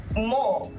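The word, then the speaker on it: もう: part as well uh omit u sound we in Japanese we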